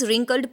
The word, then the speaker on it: wrinkled: Now what is this wrinkled? Please remember students, W is silent here. use નથી કરવાનો, it's wrinkled.